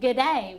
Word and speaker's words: g'day: we don't say hello we say g'day which is like good day so g'day you didn't